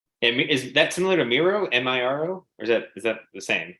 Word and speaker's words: Miro: I'm saying it wrong. I'm mixing it wrong. Micro. I call it Micro, but Miro, I think it is, yeah.